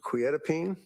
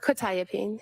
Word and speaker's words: quetiapine: Probably mispronouncing this quetiapine? Uh quetiapine.